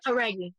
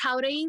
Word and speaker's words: Jauregui: to say it well it's it's how but it honestly it's you can just say heri because I say heri for americ an American Life anyway like I'll say Hari when I'm just like how but like that's the proper way to say how yeah how yeah